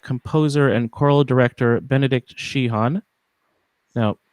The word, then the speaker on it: Sheehan: You don't need to pronounce the H. Just Sheehan. Sheehan. Yep, you got it. I should have gotten this taken care of beforehand. My apologies. That's fine. I think they do pronounce the H where the name is from in Ireland, but I don't.